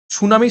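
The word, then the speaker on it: tsunami: সুনামির সামনে দেখো টি রয়েছে, টি এর উচ্চারণটা উচ্চ থাকে, সুনামি।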